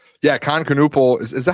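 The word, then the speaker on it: Kon Knueppel: Yeah, Khan Canupal is Is that how you say his name?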